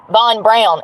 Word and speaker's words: Von Braun: I'm learning because I'm learning about Von Braun is how it's pronounced, which is crazy to me.